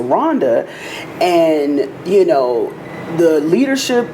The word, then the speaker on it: Rwanda: of them was Rhonda we pronounced it Rwanda but they pronounced it Rhonda and you know the